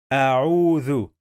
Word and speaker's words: أعوذ: A'udhu. So, how many syllables are here?